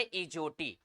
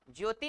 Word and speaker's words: EJOTY: का नाम होता है इजोटी। सूत्र का नाम क्या होता है? इजोटी। सब लोग पढ़ाते हैं। इजोटी की स्पेलिंग होती है EJOTY। ज्योति नहीं बोले हैं, हाँ ज्योति नहीं